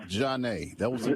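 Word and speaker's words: Zhané: It's like it looks like Zane when you look at it. You don't think of Janae. You look at it Zane.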